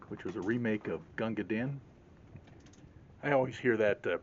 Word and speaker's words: Gunga Din: was a remake of Gunga Din. I always hear that pronounced as Gunga Din. It's actually Gunga Din. It's spelled D-I-N. But Dean is what rhymes in the original poem that's based on.